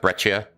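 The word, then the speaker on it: breccia: So this basalt this is breia. It's pronounced brechia.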